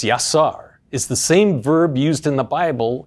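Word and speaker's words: יָצַר: living being the Hebrew verb to form is pronounced yasar is the same verb used in the Bible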